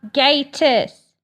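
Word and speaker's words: Gatiss: the 500th millionth time it is Mark gatus I will keep reminding you of this until you pronounce it properly it's on my list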